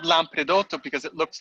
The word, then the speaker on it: Lampredotto: So can you explain a little more about the Lampredotto? Did I pronounce that correct? Lampredotto, yes.